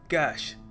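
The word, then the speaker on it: cache: इसको प्रोनाउंस करने का सही तरीका है कैश। जी हां, कैश। लिटरली जैसे नकद कहते हैं ना हम कैश वैसे ही इसको प्रोनाउंस करते हैं।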